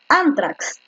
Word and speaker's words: ántrax: lo han tildado haber ántrax ántrax la fuerza de voz está efectivamente en la penúltima es una grave la